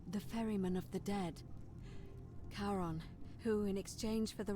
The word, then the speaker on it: Charon: it's just as you described it only your pronunciation is a little off the name you heard wasn't karen it was c-h-a-r charon as in caron the ferryman of the dead karon who in exchange for the right coin helps